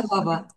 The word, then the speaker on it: Częstochowa: le prononce mal, chez, chez- excusez-moi Alina, pourriez-vous prononcer le nom? Je veux pas le... Częstochowa. Częstochowa.